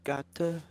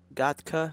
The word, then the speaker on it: Gatka: In the city, city of Gata. Gatka. I was saying it wrong the whole time.